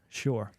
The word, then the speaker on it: Shure: And now we've gone into Shure. Yep. Shure. Shure? Is that how you pronounce it?